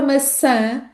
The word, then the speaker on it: maçã: Então, na palavra maçã, ao contrário do que acontece na palavra massa, além de termos a última letra pronunciada como ã, não se esqueçam da estratégia de colocar o dedo junto ao nariz para sentirem a vibração, porque é uma vogal nasal. Além desse som, a primeira letra A da palavra é pronunciada de forma fechada.